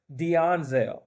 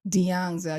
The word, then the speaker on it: D'Anzel: Yeah, so the pronunciation of my middle name is D'Anzel. D'Anzel.